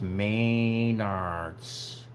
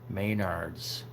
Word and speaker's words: Maynard's: something to think about it's pronounced main arts Maynard's that's my buddy Jean